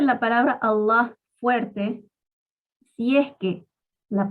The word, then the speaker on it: Allah: Una forma de pronunciar Allah es con fuerza. Allah, la lam de la palabra Allah, se pronuncia de una manera pesada. Otra forma es decir Allah. En vez de Allah, Allah. Esa lam la pronunciamos suavecita.